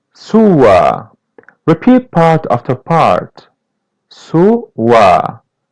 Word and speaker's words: sua: Sua. As you see, letter U is pronounced as W.